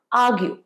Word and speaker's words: argue: আর্গু কথার অর্থ হচ্ছে তর্ক করা, ইংলিশটা হচ্ছে ARGUE, আর্গিউ, আর্গু নয় আর্গিউ, আরটা হালকা সাইলেন্ট, আর্গিউ।